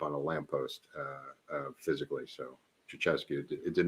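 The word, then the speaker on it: Ceaușescu: Ceausescu is how it's pronounced, but that would be great.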